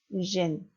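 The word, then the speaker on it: dzień: 천천히 발음하면 지혜인이지만 앞에 지, 연음, 뒤에 연음, 애인, 니, 인 발음 때문에 모음 애가 힘을 못 쓰고 그냥 약화되는 겁니다. 그래서 단어의 발음은 젠.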